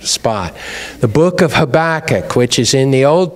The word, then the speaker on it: Habakkuk: it in the right spot the book of Habakkuk which is in the Old Testament after the major prophets Hosea Joel Amos Obadiah Jonah Micah Nahum Habakkuk okay I don't know if you all still